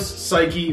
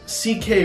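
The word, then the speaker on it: Saiki: it's spelled s-a-i-k-i so you could say like fakey yeah actually you wouldn't necessarily think of it they pronounced it vasillos c.k roy vasilo ck roy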